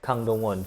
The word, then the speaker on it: Kang Dong-won: Gang, but you pronounce K. Okay. Kang Dong-won.